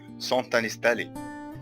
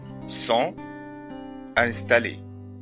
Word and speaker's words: sont installés: طيب لو هنطق الكلمتين دول مع بعض اللي هما sont وانستالي هعمل عملية اسمها liaison أي عملية ربط ما بين الكلمات فهقول sont installés sont installés. جبت حرف التي شبكته مع الكلمة التانية فقلت sont installés.